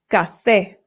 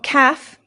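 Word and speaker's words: café: Cafe, not calf. Cafe. No. Ga. The a makes an a sound. Cafe.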